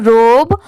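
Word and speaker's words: robe: एल यू ई blue रोब आर ओ बी ई इसे क्या प्रोनाउंस किया जाता है रोब बहुत सारे लोग जिनको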